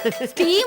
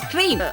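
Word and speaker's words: stream: അങ്ങോട്ട് ഇറങ്ങണം കേട്ടോ സ്റ്റീം അല്ലേ ചേച്ചി സ്ട്രീം മെയിൻ സ്ട്രീം അല്ല ഈ ഉച്ചാരണ തെറ്റുന്നല്ല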